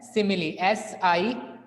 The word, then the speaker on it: simile: सिमिली, इसको हम pronounce करते हैं एज सिमिली, SIMILE।